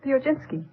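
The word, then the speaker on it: Piechocinski: Uh, uh, how do you pronounce your name? Viojinski.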